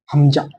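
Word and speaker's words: همزة: হা, হামজা, হামজা। এই উচ্চারণটা একটু ভালোভাবে লক্ষ্য করবে হামজা। উচ্চারণটা একটু তাড়াতাড়ি হবে হামজা।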